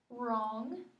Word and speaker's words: wrong: me a w WR wrong spell wrong for me w r o n g good and which letter are we going to cross out that silent W good and then what